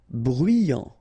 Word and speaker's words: bruyant: Bruyant. Final T not pronounced. So you get bruyant.